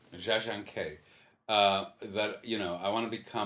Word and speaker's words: Jia Zhangke: Well, I mean, what it made me feel is the how do you pronounce the director's name? Jia Zhangke. Jia Zhangke.